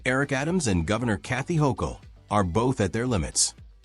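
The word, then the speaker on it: Hochul: What do you New Yorkers think of how Mayor Eric Adams and Governor Kathy Hokll Yes, you pronounced it right.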